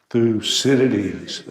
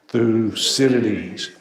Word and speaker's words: Thucydides: to make sure we can all feel comfortable pronouncing this fellow's name so 1 3 1 2 3 through Citadis i stood one more time through cities so if nothing else tonight you learned how